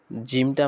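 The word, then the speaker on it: جيم: আর এরপরে জিম উচ্চারণ করার সময় জিমটা আমরা শক্তভাবে এবং কঠিন আওয়াজে পড়ব, জিম জিম জিম। জায়ের যেরকম আমাদের বাতাস বের হয়ে যায়, জিমের বাতাসটা বের হবে না, জিম।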